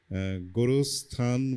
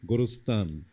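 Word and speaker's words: গোরস্থান: গোড়স্থান বলেছে আসলে তো এটা তো গোড়স্থান। পাকিস্তান, গোড়স্থান, আফগানিস্তান এরকম আর কি।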